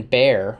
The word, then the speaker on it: Bair: Then Bear, one of the wise ones, and Bear is spelled Bair, Bear comes and says, Aviendha, come here.